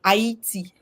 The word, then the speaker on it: Haiti: In Haiti, she taught us that Haiti is the funny word, like Brother Ron Spears was saying, Haiti. So Haiti is the right pronunciation.